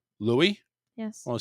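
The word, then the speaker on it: Louis: characters Princess Tiana and Lewis as they prepare for their first ever Mardi Gras huh it's Louie Louie yes well it says l-o-u-i-s is silent Louie as they prepare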